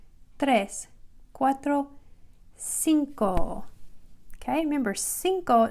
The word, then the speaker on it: cinco: cuatro cinco okay remember cinco sounds like an s but what letter is it it's the letter c because it has an e or an i after it's pronounced like an s so we just have